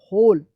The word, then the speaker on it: who: यहाँ पे भी W जो है ना साइलेंट रहता है, इसको याद कर लीजिएगा, WHOL, होल।